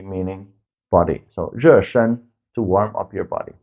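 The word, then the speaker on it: 热身: And the warming up is called 热身, 热身. So 热 means hot, warm. 身 is from 身体, 身体 meaning body. So 热身 to warm up your body.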